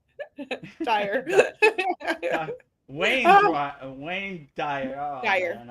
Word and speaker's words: Dyer: Wayne Dyer. Wayne Dyer. Yeah. Wayne Dyer. Yeah. Or is it Wayne Dryer? It's the earlier, not Dryer, Dyer.